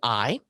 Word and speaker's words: Ai: this, and history says, is to pronounce a silent A. So it would be I. And so Israel was battling Ai, and the city of Ai defeated them.